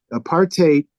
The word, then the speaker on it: apartheid: The term apartheid in this, and I use the pronunciation that South Africans tend to use. Apartheid is distinct from segregation